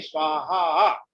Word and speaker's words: स्वाहा: यजामहे मृत्यवे स्वाहा मृत्यवे स्वाहा। स्वाहा का थोड़ा सा लंबा उच्चारण करके दूसरा वाला स्वाहा, इसमें 3 जो है मात्राएं होती हैं, बोलते हैं इसको।